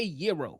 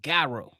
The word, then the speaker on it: gyro: That's what we don't say Euro. We say Gyro.